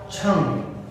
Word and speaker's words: छंग: छंग ग पूरा हम नहीं बोलते हैं यहाँ, छंग। तो इसका उच्चारण का विशेष ध्यान रखेंगे, छंग, ग नहीं, छंग।